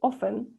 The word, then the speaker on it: often: Esa palabra es often, ¿ya? No se pronuncia la T.